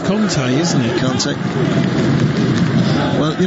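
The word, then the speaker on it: Kanté: It's pronounced Kante, isn't it?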